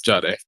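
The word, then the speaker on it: Jahdae: Um, the Broncos took uh Jiard Baron. Jiade Jiad Baron. I don't know how you pronounce his name. Oh, it's Jade.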